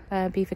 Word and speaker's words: Belvoir: and see their Christmas display foreign recently that Beaver Castle is one of the top 15 mispronounced place names here in England and it